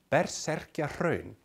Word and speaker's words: Berserkjahraun: otherwise let's take a look at the name bet circular own that's how it's pronounced as indicated by the hyphenation is a